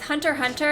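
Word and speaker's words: Hunter × Hunter: you don't have stone so it's Hunter Hunter and HH a lot of HH fans hate when people pronounce the X it's like a meme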